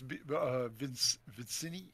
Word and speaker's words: Vincenti: It is Vincenti. Vincenti. I got credit in the chat from Giorgio for pronouncing it correctly, so I must be doing it correctly.